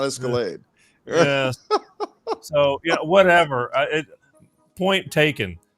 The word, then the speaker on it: Escalade: uh nobody buys catalogs you're escalad not escalade so yeah whatever point